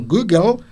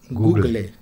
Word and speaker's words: Google: Fuente del saber llamado Google que por cierto se escribe G o g l e deberíamos pronunciarlo Google pero decimos todos Google por qué Pero y y